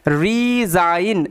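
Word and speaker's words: resign: ডিজাইন একই রকম ভাবে আর ই ঋ এস এর উচ্চারণটা কি হবে এস এর উচ্চারণটা জ হবে কেননা দুটো ভাওয়েলের মাঝখানে এস আছে তার সাথে আই জি এন আইন রিজাইন রিজাইন মানে পদত্যাগ করা আই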